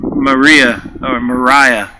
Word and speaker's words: Maria: Mariah, as I've been informed, is how she pronounced it.